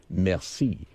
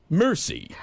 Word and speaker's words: merci: at it, you say merci. But when the way Brad pronounces it, it's really embarrassing. He gets it and he gets the bill and looks at it and says, mercy.